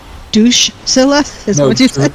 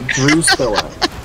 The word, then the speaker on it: Drusilla: Drusilla. Douche-cilla? No, Drusilla. Okay. But, like, spelled actually like my warrior on the server is spelled.